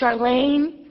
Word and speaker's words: Charlayne: Um, but actually, um, it's it's Charlene rhyming with, you know, pain.